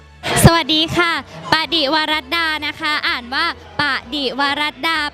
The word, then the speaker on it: ปดิวรัดา: สวัสดี ค่ะ ปดิวรัดา นะ คะ อ่าน ว่า ปดิวรัดา แปล ว่า ภรรยา ผู้ ซื่อ สัตย์ ต่อ สามี ค่ะ ปดิวรัดา ค่ะ พี่ เกรส คะ ละคร น้อง อ่าน ว่า อะไร คะ ปดิวรัดา ช้า ๆ ค่ะ ปดิวรัดา ดู ปาก พี่ เกส